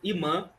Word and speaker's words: imã: voltasse, né, ou mã, como vocês quiserem chamar, eu falo imã que é o a pronúncia voltar, se ele pudesse sair do aeroporto e ir direto para essa mesquita, tá entendendo?